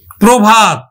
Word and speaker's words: প্রভাত: যেমন দেখো, প্রধান, প্রধান, প্রধান, প্রভাত, প্রভাত। এখন দেখো প্রধানটা কেমন উচ্চারিত হচ্ছে, যে আদ্য রফলাযুক্ত অ, আদ্য রফলাযুক্ত অ ও এর মতো উচ্চারিত হবে, তাহলে উচ্চারণ হবে কিন্তু প্রধান, প্রধান।